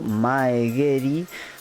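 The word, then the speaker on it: 前蹴り: ejemplo yo koggeri o maegery se pronuncia con g Cuál es la diferencia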